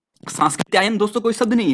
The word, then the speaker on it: सांकृत्यायन: सुना होगा ना आप ऐसा नहीं बोलोगे कि राहुल सांकृत आयन नहीं राहुल सांकृत आयन तो ये शुद्ध होता है सांस की जो आधा सा दिखाई दे रही है गलत होता है अक्सर हम उच्चारण ही गलत करते हैं तो सांकृत्यायन हमें बोलना है राहुल बोलते हैं